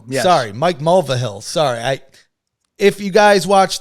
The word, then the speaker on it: Mulvihill: We had Edward Hartman and Mike Mulvihill. Yes. Sorry, Mike Mulvihill. Sorry, if you guys watch the show, you know I'm not very good with names, but Mulvihill, that's how you say it.